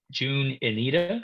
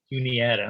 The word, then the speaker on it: Juniata: she went to uh june anita is that pronounced correctly tune in juniata okay i was close